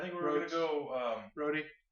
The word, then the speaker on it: Rodez: Roadie? Roads. And that's Roads spelled R-O-D-E-Z.